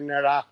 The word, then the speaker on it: নেড়া: সো নেড়া খুব প্রিয় জিনিস, সিলেটি যে নন সিলেটিরা নেড়া বলতে পারে না, বলে নেড়া, তারা আবার র উচ্চারণ করে, এটা ঠিক না, নেড়া।